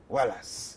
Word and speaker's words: Oualas: Ça s'écrit exactement pareil. O-U-A-L-A-S. Wallace.